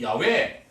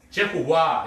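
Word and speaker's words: 야웨: 원래 히브리어로 하나님의 이름을 따라해봅시다. 야외. 야외 하나님. 그거를 영어식으로 발음을 하다 보니까 히브리어를 거기다가 제호와 이렇게 사람들한테 전해졌는데 원래는 야외 이렇게. 야훼도 아니에요. 회가 아니고 야외 하나님입니다.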